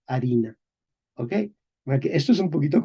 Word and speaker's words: harina: Español moderno, escribimos con H, porque mantenemos la escritura, la pronunciación medieval, pero no pronunciamos la H, decimos A, ¿ok?